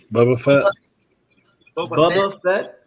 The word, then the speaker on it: Boba Fett: bubba bubba bubba bubba how you say it Boba Fett yeah if you're from the south we call